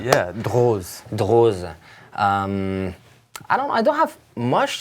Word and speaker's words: Droz: Z, yeah, Droz. Droz. I don't have much to say. I mean, regarding the pronunciation, just Droz and not Droz, because it's not an S, the same as Hermès and Hermès. Yeah.